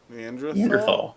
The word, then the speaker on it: Neanderthal: Neanderthal. That's how they're actually pronounced.